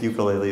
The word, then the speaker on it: ukulele: all right foreign and that's the right way to say it but since we're not in Hawaii I guess ukulele is what we say here and it's got four